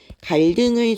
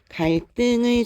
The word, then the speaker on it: 갈등: 그리고 우리 소설 속에서는 인물의 갈등을 중심으로 아니고 갈등을 중심으로 펼쳐진다라고 얘기를 하게 되죠 그다음에 잠깐 정지할 거예요